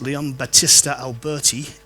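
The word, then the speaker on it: Leon Battista Alberti: often credited to um Leon that's how you pronounce it Leon Batista Alberti in a book called on painting which came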